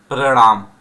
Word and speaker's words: प्रणाम: यह आपको सीखना चाहिए बहुत सारे लोग हैं प्रणाम बोलते हैं प्रणाम पांव के नीचे रा लगाना भूल जाते बोलचाल में तो आप ध्यान दीजिए प्रणाम यह सही उच्चारण होता है ट्रेन चली साधु देखते